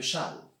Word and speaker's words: Chasles: appeler la relation de charles charles ça s'écrit avec un s chassons mais on dit chan chan d'un mathématicien français